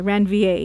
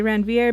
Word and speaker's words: Ranvier: the nodes of ranvier I'm sorry ran VA is the correct pronunciation I always say Ranveer because that helps me spell it but it's nodes